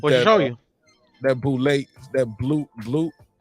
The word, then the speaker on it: balut: That boulette, that blue. Balut?